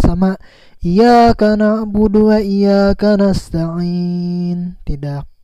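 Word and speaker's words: إياك: Iyyaka na'budu wa iyyaka nasta'in, tidak terbaca tadinya. Jadi harus jelas Iyyaka na'budu wa iyyaka nasta'in.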